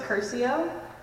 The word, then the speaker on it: Curcio: My last name is pronounced Curcio, so kind of like the Harry Potter curse, but the R and the U are switched.